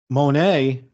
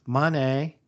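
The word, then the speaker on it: Moné: Um, my bigger problem is we keep saying Monet, but when she's cutting her promos, it's money, It money. She's is saying Monet. money. We've all been saying it wrong.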